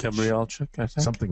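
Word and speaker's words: Gabrijelčič: How do you pronounce his last name, Anders? Primoz Gabrielchev. Gabrielchev, I think.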